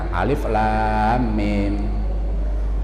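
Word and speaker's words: ألم: Alifnya agak pendek, kemudian lamnya panjang, alif lam mim. Padahal alif lam mim itu bisa dibaca alam,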